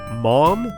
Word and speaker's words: Mam: mam desert m-a-m but maybe that was meant to be pronounced more like mom like mom mom desert